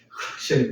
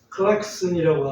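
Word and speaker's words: Klaxon: 근데 그걸 우리 아마 일본식으로 발음하지 않았을까 싶고 크락션 해가지고 클락션하고 크락션하고 좀 발음이 연관이 없는데 비슷하긴 하지만 발음이 너무 차이가 나서 그래서 그런 거였구나.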